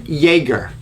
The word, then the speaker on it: Jaeger: today's guest is yeager pronounced like jagermeister makes me think of